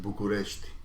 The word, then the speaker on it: București: In Romanian we pronounce it București, and it was such